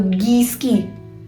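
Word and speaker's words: whisky: है जैसे कि अब इसको कैसे पढ़ेंगे विस्की विस्की इसको आप ऐसे भी पढ़ सकते हो गिस्की गिस्की ओके सो सिमिलरिटी है अब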